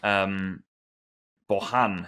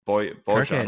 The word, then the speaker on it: Bojan: Bojan, who I'm told in Catalonia, I think it's like Bojan or something. You're meant to pronounce that.